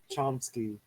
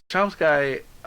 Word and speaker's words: Chomsky: Chomsky. It's pronounced Chomsky.